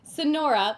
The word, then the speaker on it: Sonora: Anyway, Sonora, like the Sonoran desert, which I used to live close to, so you'd think I would know how to pronounce it.